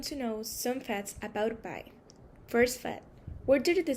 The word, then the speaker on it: pi: And now we're going to know some facts about pi. First fact, where did the symbol come from? Pi is a Greek letter pronounced like the English letter P and means perimeter.